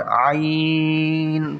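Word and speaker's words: ع: টেনে পড়তে হবে আইন।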